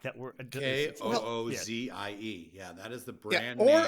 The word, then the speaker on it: Koozie: the brand name or a cozy which I've often heard people say I I think Koozie is correct in terms of pronunciation I think Koo but Koozie itself is a derivation of cozy like T cozy sure yes exactly sure